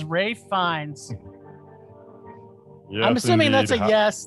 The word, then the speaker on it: Ralph Fiennes: fiennes i don't know i've got an uncle he spells his name the same way his name's ralph my father-in-law's named ralph and it's spelt the same too but whatever you can call yourself whatever you want as long as you act as mesmerizing as ray finds i'm assuming that's a